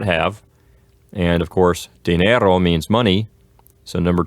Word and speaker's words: dinero: And as a reminder for pronunciation, dinero just ends on an O, just a dry, short O sound. Dinero, as opposed to dinero. And the accent is going to be on the E sound, on the second syllable.